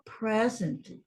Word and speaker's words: present: Agora, voltando à palavra present. Present. Aqui tem uma vogal, aqui tem outra vogal. Quando é verbo, vem para a regra seguinte. Aqui, present, essa aqui é a sílaba mais forte, é a primeira.